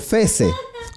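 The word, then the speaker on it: Fehs: porque su apellido es FES Sí entonces escribe f e h s e y Cómo se pronuncia FC No más porque la H es muda pues no muy bien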